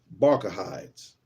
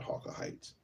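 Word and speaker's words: Bacchides: it's like a a Roman or Greek name bides not hawah Heights let's see b a c c h i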